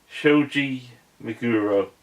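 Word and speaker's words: Shoji Meguro: very good with things especially their Japanese forget Shoji maguro that's how you pronounce it yeah he's always done really really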